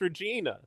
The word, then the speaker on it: Regina: Pronounced Regina. I think it's pronounced Regina.